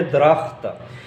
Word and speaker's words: درخت: درخت اور درخت، تو اصل میں جو صحیح تلفظ ہے وہ ہے درخت۔ تمیز، تمیز، تمیز، صحیح ہے تمیز۔ گلہری، گلہری،